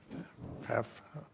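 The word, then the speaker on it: PAHPA: PAFA.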